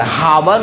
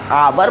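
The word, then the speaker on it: hour: तो इसीलिए यहाँ आपका लगेगा क्या चीज, तो हिंदी उच्चारण करेंगे तो एच ओ यू आर, हावर नहीं पढ़ा जाता, आवर पढ़ा जाता है, तो आवर।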